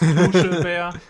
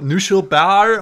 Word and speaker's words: Knuschelbär: Actually, one of the good things that we have going for us is that we can pronounce his name right. It's Knuschelbär. Not Knuschelbär or something like that.